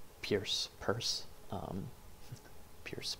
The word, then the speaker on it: Peirce: um charles s pierce purse um pierce purse pierce arrow and then charles says purse p-e-i-r-c-e and then p-i-e-r-c-e that's also something that